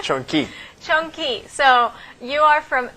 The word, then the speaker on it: Chong-Qui: Chong-Qui.